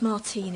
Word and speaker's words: Martin: It's pronounced Martine, it's my married name.